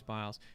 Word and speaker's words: Biles: on our usa simone simone biles okay it's biles i wasn't sure how you say it um i think it's bios i think it's biles she apparently i i don't know all of